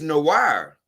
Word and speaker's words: noir: he said it's good it's pronounced noah i know why is it noah okay i guess it's noah since it's a french word black oh no but if it's a french word it's no wire this should be no